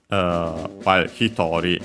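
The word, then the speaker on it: 一人: While hitori, yeah, on the to, like usual, like similar to hitotsu and futatsu.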